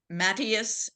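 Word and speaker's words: Matthias: that doctor the uh he pronounces his first name mattius m a TT h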